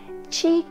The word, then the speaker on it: qi: and that is Qigong Chi is spelled q i and gong g-o-n-g tea